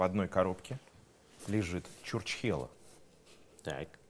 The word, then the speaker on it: Чурчхела: Игра называется «Где Чурчхела?». Внесите реквизит, пожалуйста. Опа. Кстати, не все правильно произносят это слово.